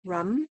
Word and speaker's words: RAM: I think is pronounced, it's R A M, but it's kind of pronounced rum.